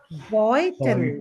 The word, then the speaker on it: Beutel: So how is the combination of EU pronounced? Oi. Oi. Oi. Oi. Oi. Yeah. Oi.